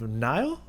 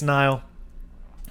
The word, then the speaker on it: Nihil: So I'm assuming it's Nile, kind of like the river Nile, the Nile River, you know.